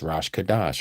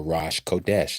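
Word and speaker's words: Rosh Chodesh: It says Rosh Kadash or Rosh Kodesh, depending on how you want to pronounce it with your vowel points.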